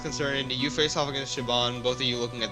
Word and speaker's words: Siobhan: I think it's Shaban. Shaban? Soap Siobhan? Mark. You think she was a member of Captain British crew? Yes, it's Shaban.